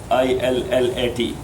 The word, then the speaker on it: illat: I-L-L-A-T. I-L-L-A-H. But instead of H, you should write it T, because maybe you will pronounce it without ilah. That this is a hadith without God. Yes. Without illat.